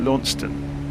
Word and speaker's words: Launceston: our way down towards I call it Lon but they're calling it leston so the British way of pronouncing it would be Lon